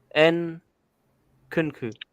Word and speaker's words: Nkunku: Hopefully I pronounced it right. We've not spoken about him on the channel before. Nkunku.